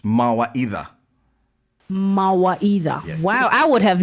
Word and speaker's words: Mawaitha: then the the company name how is it pronounced as well so that's also swahili it's mawa either either wow i would have never guessed trust